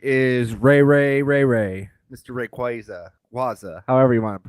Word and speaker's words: Rayquaza: Rayquaza, however you want to pronounce it. Rayquaza.